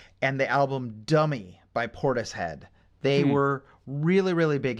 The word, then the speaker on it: Portishead: Have you ever heard of the band Portishead? Portishead. Like rhymes with P-O-R. tortoise? Sort of. Yeah, tortoise. Yeah, it does rhyme with tortoise.